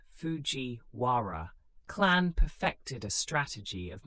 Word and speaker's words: Fujiwara: The Fujiwara pronounced Fujiwara clan perfected a strategy of marrying their daughters to emperors.